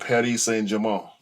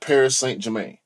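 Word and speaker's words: Paris Saint-Germain: looked it up and you know Google will pronounce it for you and they said Patty say Jamal that's it's over got say it correctly now a no what is it's not Paris St Jermaine which is I know J you know your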